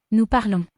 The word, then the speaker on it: parlons: Remember, the S on the end is silent, so it makes this. Nous parlons.